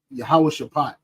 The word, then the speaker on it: Jehoshaphat: So Jehoshaphat. That's how you pronounce that.